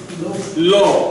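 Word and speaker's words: לא: Aleph is silent. So you have lo.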